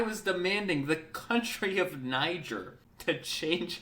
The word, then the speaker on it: Niger: why can't Niger which by the way it's pronounced Niger by the way just in case you were